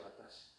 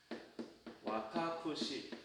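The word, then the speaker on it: 私: 와타시.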